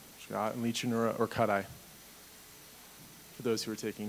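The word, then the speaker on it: Lichanura orcutti: No, but we would like the appropriate scientific pronunciations. That was really close. I commend you on that. It's Licanura trivirgata, and Licanura orcuti, for those who are taking notes.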